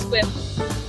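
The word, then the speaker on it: Sequim: heading from seattle um to a place called swim which is spelled sequin and it's pronounced swim and we've got a couple of days up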